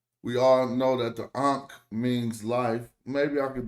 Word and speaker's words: ankh: It's an ankh. But you probably don't notice that we're making 3 sounds when we say ankh.